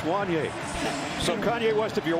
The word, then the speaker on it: Wanye: Gary said You know, in the media guide, in the pronunciation, it says, is it Wanye? Because he said it looks like it rhymes Right, with that Kanye.